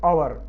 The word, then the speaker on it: hour: और होरा शब्द को अंग्रेजी में बोलते हैं आवर, HOUR, और। तो ये होरा शब्द का ही अंग्रेजी में ज्यों का त्यों ले लिया है, उसको और बोलते हैं उसको, और H को उन्होंने साइलेंट कर दिया है।